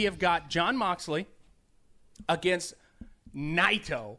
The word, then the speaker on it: Naito: got Jon Moxley against NATO NATO that's how it's pronounced I'm glad that you told me that because I was gonna say nito nito is NATO all right all right